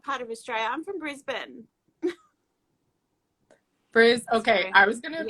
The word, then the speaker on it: Brisbane: says um what part of australia i'm from brisbane bruce okay i was gonna pronounce brisbane so i'm really glad they're not